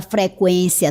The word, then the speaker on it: frequência: Note que a pronúncia continua sendo a mesma, com o U.